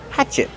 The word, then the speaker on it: hatchet: Hatchet, use the open a sound like black cat. Hatch. Hatchet. The stress is on the first syllable. And what about the letter T at the end? Use a stop T. Stop the air. Hatchet. Not hatchet, but hatchet. This is a black hatchet.